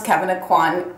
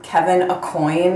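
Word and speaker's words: Kevyn Aucoin: watching all hers, but they pronounce Kevin Aquan Kevin Acoin, and I laugh every time they do. It's like such a pronunciation faux pas.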